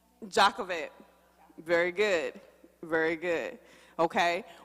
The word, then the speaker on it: Jochebed: Jochebed.